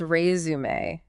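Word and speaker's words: résumé: That's rumé with the emphasis on that second syllable. Razer. Yes. And it's a great example of how English borrows words from other languages. Okay. And sometimes those phonetic rules come along for the ride. Right. Interesting. So resumeé comes from French and that accent mark over the final e that actually signals a different pronunciation.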